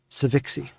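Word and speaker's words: Sivinxi: n x i okay i pronounce it ceviche much easier on the tongue all right and well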